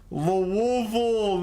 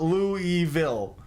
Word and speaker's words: Louisville: got you Indiana uh like most normal people pronounce Louisville L Lille not Lou evil Lille oh no this